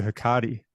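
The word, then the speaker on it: Hecate: about let's go into hiati um yeah that's how you say right inter interview with hiati goddess of the witches H you know Kate yeah all lots of different things that's the current Greek pronunciation I think so so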